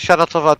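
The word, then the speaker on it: Shana Tova: I was like, don't forget Shanatova, don't forget Shanatova.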